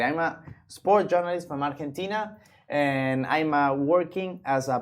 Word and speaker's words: Argentina: You pronounce it in Spanish, you pronounce Argentina, in English, Argentina.